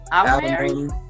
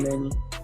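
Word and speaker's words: Alemany: Alamany. Okay. Alamany.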